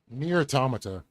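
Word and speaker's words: NieR: Automata: Near Automata. Near Automata, is that how you say it? Yep.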